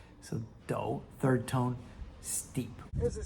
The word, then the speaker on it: 抖: Recalling that minimal stroke character that meant a dipper, if we put the hand radical in front, it becomes third tone do, to shake due to cold or fear or excitement.